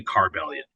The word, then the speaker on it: Carbellion: one actually here's the trick right yeah the pronunciation of the band has always been tricky people so it's actually car Valiant okay wow wow yeah no we've heard a